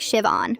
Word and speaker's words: Siobhan: The H is silent. It's pronounced like Shiv-on.